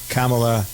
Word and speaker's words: Kamala: uh Mike Pence and camela Harris I'm told I mispronounced your name Kamala camela whatever at any rate those